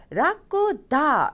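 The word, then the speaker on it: 楽だ: 즐거울 락자인데 라쿠다 라고 하면은 나형용사가 돼서 편안하다.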